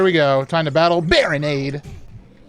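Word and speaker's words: Barinade: Time to battle Baronade. Rhymes with Gatorade. So true. Does it? Nade does not rhyme with aid.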